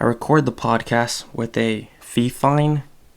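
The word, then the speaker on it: Fifine: the podcast with a fee fine Mike I think that's how you pronounce it fi f I and II and then I use a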